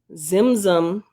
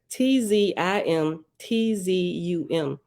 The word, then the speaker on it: Tzimtzum: Zimzum, I'm sure the T is silent, Tzimtzum, Zimzum, self-constricted to make